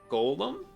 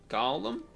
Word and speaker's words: Gollum: think that we like Golem Gollum my bad I don't know why I keep saying it wrong cuz I I like